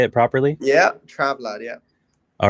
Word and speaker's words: TRAVLADD: Yeah, TRAVLADD, yeah.